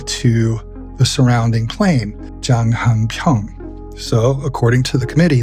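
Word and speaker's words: 장한평: That fortress gave its name to the surrounding plain, Janghanpyeong. So according to the committee, that name is well rooted in this area. And they said, they claimed, that 'janganpyeong' is just a mispronunciation of 'janghanpyeong'.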